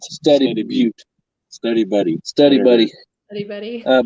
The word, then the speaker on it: Study Butte: Study Butte. Study Butte. Study Buddy. Study Buddy. Anybody? Butte. However you want to pronounce Butte.